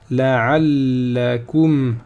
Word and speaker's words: لعلكم: La'allakum. La'allakum. La shadda. Hein. La'allakum ta'qiloun. Je m'arrête avec soukoun, je ne prononce pas ici la dernière haraka.